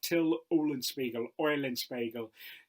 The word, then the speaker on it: Till Eulenspiegel: Now, in German, his name is pronounced something like Till Eulenspiegel.